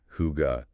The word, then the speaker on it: hygge: For a word that's actually become pretty well known globally, hide. Ah, yes. Hide, often translated as just cozy, but I always suspect there's more to it. You're absolutely right. Hide, pronounced roughly, hygge, is so much more than just cozy.